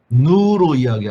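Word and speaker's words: ν: 누로 누로 씁니다. 누라고 읽습니다. 누.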